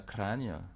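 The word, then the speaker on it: Kranj: Euh, Ici, moi je conseille de vous arrêter à Kragne. Kragne, ça s'écrit K-R-A, voilà, NJ.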